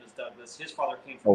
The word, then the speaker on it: Dubh Glas: the dark water and it's pronounced a lot like your middle name Douglas yeah but I think